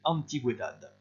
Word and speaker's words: antigüedad: Vous faites attention ici, il y a un U qui se prononce également, vous avez un tréma, c'est très rare en espagnol.